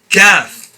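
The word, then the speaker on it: ق: calf calf so calf this letter is pronounced by raising the middle part of your tongue against the respective part of the of the palette right opposite of it so the middle of the tongue goes up and touches the right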